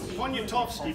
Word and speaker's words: Poniatowski: Stanislaus any Russians here that can pronounce this good? Poniatowski, very good. French and Russian, that's great. Czech also. Oh, wow. You need to keep you around. Poniatowski, he was a secretary to an Englishman, but he was Polish.